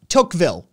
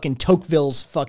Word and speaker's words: Tocqueville: of tocqueville's name um the first one it's tocqueville it's literally just tocqueville jesus christ [ __